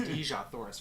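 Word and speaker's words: Dejah Thoris: I mean, he knows it's pronounced Dejah, Thoris, for God's sake.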